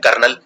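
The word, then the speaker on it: colonel: लिख देते हैं KARNAL, कर्नल। ऐसा नहीं है, कर्नल की स्पेलिंग बहुत ही डिफिकल्ट है, इसको लिखते हैं कलोनल, COLO, कोलोनल, लेकिन बोलते हैं जनरली कर्नल।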